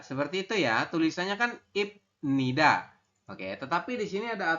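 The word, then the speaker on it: 입니다: ini kalimatnya berbunyi bahwasanya bila ada konsonan bep masih ingat ya bieap itu bentuknya seperti a terbalik hbul posisinya di akhir Kemudian bertemu dengan niion di tengah maka bep berubah bunyi menjadi m Maksudnya gimana saya maksudnya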